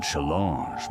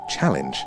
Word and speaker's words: challenge: No, V, they are small and chalange my dominance. Uh, that's pronounced challenge. I think Alan went slightly French there.